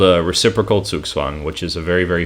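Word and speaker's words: zugzwang: very fancy phrase um so swoogswang spelled like this c u g z w a n g this word it means compulsion to move it's a german word and so it means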